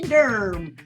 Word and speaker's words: Durham: um yes they say keep it dirty Derm u r m is how you spell it when you say it that way because and and Durham